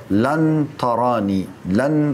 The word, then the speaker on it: لن: Kalau lam sama nun dibaca lan artinya tidak akan pernah.